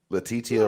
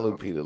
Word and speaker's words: Letitia: you say it no letitia are right oh letitia all right not lupita latitia yeah the tt right yeah there she